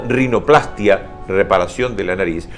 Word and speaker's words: rinoplastia: reparación de la nariz, corresponde aclarar que la pronunciación de estos vocablos debe ser con mayor fuerza en la primera A de plastia y no sobre la I de angioplastía o rinoplastía, pues no va y es muy bueno leerlo.